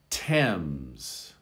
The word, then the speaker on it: Thames: now in in english th can also be a t sound in these particular words thomas thomas thailand thailand hello to everyone from thailand out there thames thames now the thames